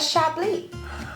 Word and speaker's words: Chablis: else is a chardonnay i don't libby a chablis i know or is that how i say